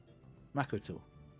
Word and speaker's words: Makoto: past 10 minutes, but I believe Makoto should be Haiban, which is the flat pronunciation in Japanese with no real emphasis on any syllable. Makoto.